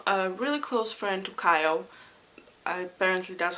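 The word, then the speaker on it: Chaol: she has become a really close friend to Kyle apparently that's how you pronounce his name the captain of the Guard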